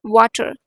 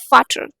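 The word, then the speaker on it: Vater: So this is नॉट वाटर. First of ऑल, फादर को हम German में क्या बोलते हैं, फाटर. इट्स नॉट वाटर, इट्स फाटर. Alright. We have यनवार, फाटर.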